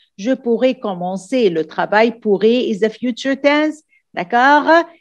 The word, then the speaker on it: pourrais: Je pourrais commencer le travail, pourrais is a future tense, d'accord? If you don't put the S or you put the S, the same pronunciation.